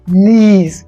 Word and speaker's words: knees: ई आर S shoulders के N double E एस नीज यहां के का साउंड नहीं आता है ओके के साइलेंट होता है ए एन डी